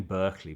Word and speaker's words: Berkeley: It's written Berkeley, but the pronunciation is Berkeley, like Barclay card.